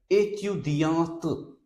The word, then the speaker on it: étudiante: If you write E here, then this E will remain silent, but this T will be pronounced in that case. And then we will pronounce it like étudiante, which is a girl student.